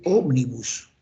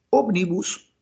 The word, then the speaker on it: Ómnibus: en ese en ese y Ómnibus tiene tres sílabas tiene tres sílabas y es una palabra esdrújula Entonces es como miércoles Omnibus allá Entonces será